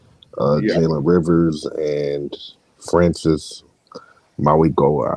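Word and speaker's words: Mauigoa: Jaylen rivers and Francis Maui Goa I think is how you say that last name but he's first team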